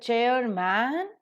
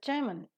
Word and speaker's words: chairman: the syllable timed rhythm, man, which is normally pronounced as man, is reduced to the pronunciation of the weak or the weaker part, which is mun. So we don't pronounce it as chairman, but we pronounce it as chairman in order to fit it into the rhythm.